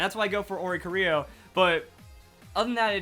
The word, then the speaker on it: Oricorio: Now, a lot of people get mad at my pronunciation of Oricorio. Now, mostly it's just based off of, like, the Bele style, I guess that's what it's called. Because I just think, like, Rio.